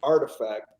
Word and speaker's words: RTFKT: um yeah nike just purchased uh acquired it's pronounced artifact it's rtftk i believe um and then you